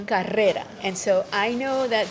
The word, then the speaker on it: carrera: And so, for example, in Spanish, we have this very hard R, Okay. like the word, the name rose is pronounced rosa. Okay. And so, or if I want to say like, a race would be carrera.